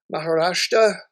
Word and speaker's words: Maharashtra: The units that rebel, say we do a rebellion here in Maharashtra, is how you say that.